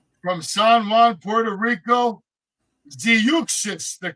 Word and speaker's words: Zeuxis: All right, Zeuxis getting in the ring from the CMLL. That's all I'm saying. From San Juan, Puerto Rico, Ziuxis, the correct pronunciation, excuse me.